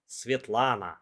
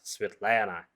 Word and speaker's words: Svetlana: A useful life hack how to pronounce Russian names properly. Just sound a letter as a. Svetlana, not Svetlana, Irina, Slava, etc.